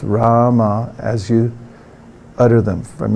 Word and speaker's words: Rama: to fix the mind it's two syllables first is raah second one is mom so together it's Rama for many thousands of